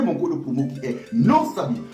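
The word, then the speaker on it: NOSABY: code promo qui est non saabi voilà comment non saabi s'écrit n o s A B y tout en majusc c'est le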